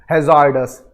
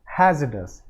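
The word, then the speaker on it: hazardous: जनता इसको प्रोनाउंस करेगी हजार्ड अस this is completely रंग इट इज नॉट हजार्ड इट इज हैज डस क्या है हैज डस इस शब्द में जो आर है उसको प्रोनाउंस नहीं करते इट इज ओनली हैज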